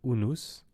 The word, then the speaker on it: unus: At the beginning of the word unus, una, one in Latin, the V is pronounced as U.